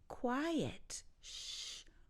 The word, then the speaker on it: quiet: as opposed to the adjective quiet two syllables there quiet quiet and quit I